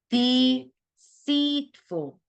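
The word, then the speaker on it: deceitful: is deceful deceful 아니고 deceatful deceatful deceatful deceatful deceatful 여기 seat 부분에 강세가 있어요 deceatful도 아니고 deceatful deceatful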